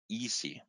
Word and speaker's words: iisy: There are videos around it, which is called LBR Easy, where Easy is spelt with two I's.